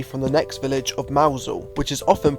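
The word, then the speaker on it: Mousehole: and jump away from the next village of Mousel, which is often pronounced wrong, and now I was thankfully on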